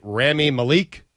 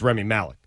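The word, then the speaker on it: Rami Malek: I asked Mike right before we went on air, is it Remy Malik? And he said, no, it's Remy Malek.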